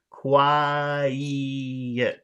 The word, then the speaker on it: quiet: sounds as number one, but it's separated into two syllables. So you have to put that extra big stretch in the middle to make it very clear. Syllable one, syllable two, ye. Quiet.